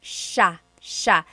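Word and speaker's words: siya: uh just about pronunciation it's Sha Sha the SI i y combination makes that Sha Sha sound it looks like it should be pronounced CA there are some regions in the Philippines I believe that say ca but usually in the Central Luzon area it's pronounced Sha Sha then there's Sila they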